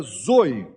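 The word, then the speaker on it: ζωή: é pronunciada zoi, zoi, vida e todo vem a mim, eu lhe darei zoi, minha própria vida.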